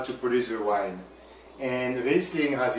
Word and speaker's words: Riesling: Okay, the first wine is, I'm probably not going to say it right, but Riesling. Riesling. Riesling. No, Riesling, c'est correct.